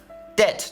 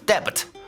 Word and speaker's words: debt: Debt 就是债务或者欠款，a sum of money that is owed or due。要注意啊，这个单词读音当中字母 B 是不发音的，直接读 debt 就可以了。你要念成 debit 就丢人了啊！一块跟我念2遍好了，debt。一块来看例句：3 years later, he is still paying off his debts.